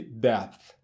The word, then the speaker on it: depth: E se nós quisermos falar agora de depth? Depth, que significa profundidade. Então percebam que esse P ele tem uma pronúncia bem sutil.